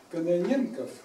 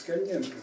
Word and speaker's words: Кононенко: Это вот Юрий Кононенков. Вот я всегда путаю с Каненко, фамилию не могу произносить правильно. Кононенков, правильно? Кононенко. Да, Кононенко.